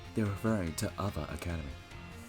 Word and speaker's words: Uva Academy: That's right, they're referring to Uva Academy. It's pronounced Uva Academy.